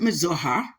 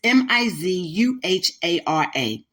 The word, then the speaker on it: Mizuhara: Some people pronounce it Mizuhara, but it's Mizuhara.